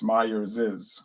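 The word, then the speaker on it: Myers's: started company was last name myers so it's meyer's is which is kind of hard to say but that's the proper pronunciation but most people don't use that kind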